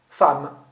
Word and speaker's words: femme: Femme, ça s'écrit F-E-2-M-E. Où est-ce que vous avez vu une lettre A? Il n'y en a pas. Pourtant, vous dites bien femme et non pas femme.